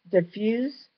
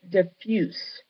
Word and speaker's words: diffuse: And moving on to diffuse and diffuse. See, they give you two pronunciations. It's pronounced differently when it's used as an adjective, as opposed to its normal use as a verb.